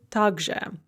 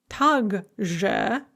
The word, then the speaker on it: также: two words that mean also the first is tagja note that it is spelled tak zhao are both words in russian